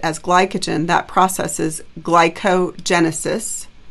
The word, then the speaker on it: glycogenesis: glycogen, that process is glycogenesis, right? Storing glycogen. So it's really got both roots. It's got glycogen and genesis, glycogenesis, but don't put the other gen in there.